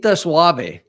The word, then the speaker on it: Suave: kid gota eat actually if you want to say it correctly Suave the soft cat or the easy cat Suave yes you know